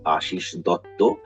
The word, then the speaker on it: Ashis Dutta: So as you have said, my name is Ashis Dutta. In Bengali, it's pronounced Ashis Dotto, but Okay.